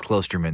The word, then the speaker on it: Klosterman: Well, no, everyone says my name wrong. There's no reason that you would think it's Klosterman. There's no umlauts over my name. It looks like Klosterman.